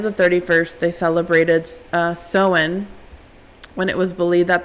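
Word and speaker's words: Samhain: back to the ancient Celtic Festival of um seen that's how it's pronounced but it's spelled sa a Sam S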